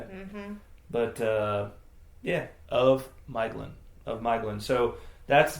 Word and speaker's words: Maeglin: But ae may be pronounced in the same way as i and oe as in English toy. So apparently it's supposed to be pronounced Miglin, which I got wrong a couple times. Say it again. Miglin. Miglin. Yeah. Which I got wrong the couple of times I pronounced it last week.